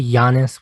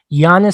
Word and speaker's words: Giannis: john giannis giannis okay giannis you don't pronounce the g giannis scored points and that